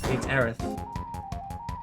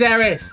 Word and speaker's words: Aerith: If anything, it's Ares, and you're all saying it wrong anyway. Ares like the Greek god. So, you know what, mate? It's Aerith. It was always Aerith.